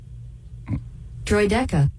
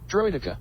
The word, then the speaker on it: Droideka: you want to know what we also know droy DEA that is not Dr nope Dr here let me play the official pronunciation droa all right let's take a break uh C's